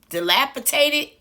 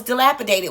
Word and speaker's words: dilapidated: what he said dilapitated it's always funny to me when people don't know to pronounce the d because they trying to speak proper so they just make everything sound proper he said dilapitated uh